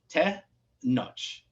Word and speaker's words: Tenoch: Te Noch. So there is like, it's like you're saying notch, but it's Noch, like Noch.